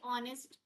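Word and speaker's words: honest: एन लगेगा ऐसे ही ऑनेस्ट person का भी है। एच हमारा साइलेंट है इधर ऑनेस्ट पर्सन।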